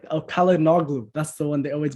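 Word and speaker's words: Çalhanoğlu: in your head, it's Kalinoglu, Olu, like it, because that G is silent because it has the little hat above it. So you just kind of carry the vowel before it.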